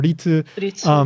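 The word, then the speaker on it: 立: And then tatsu, you would use this kanji, which tatsu means to stand, or sometimes it's pronounced like ri or ritsu.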